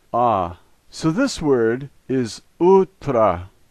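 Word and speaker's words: утро: last letter is an O and here it's pronounced in its typical way ah so this word is ultra ultra the first letter in this word reminds me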